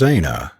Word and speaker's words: Aina: clothes my name is Aina she added pronouncing it a-y-n-a with the Highland lilt in her voice and the twins must